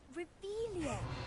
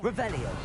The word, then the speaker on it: Revelio: Ugh, Revelia. What are they looking Much for? better. Oh, shut up. Wait. Accio. Revelio.